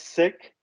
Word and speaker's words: Sikh: that's embarrassing they're pronouncing the original name wrong so we're going to call it zeke as well the preferred way is sick it's just been westernized so it actually means a lot to us if you say it the original way which is sick uh thank you